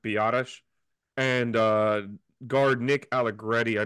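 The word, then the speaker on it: Biadasz: I really want to call him Tyler Badass just because it looks, it sounds cooler, but I guess I heard it's pronounced Biotish.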